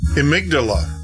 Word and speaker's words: amygdala: he sits and teaches me how to say amygdala.